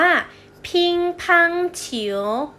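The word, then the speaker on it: 乒乓球: ปิงปอง ปิงปอง นะ คะ ภาษา จีน ออก เสียง ว่า พิงค์ พัง ฉิว พิงค์ พัง ฉิว อดิเรก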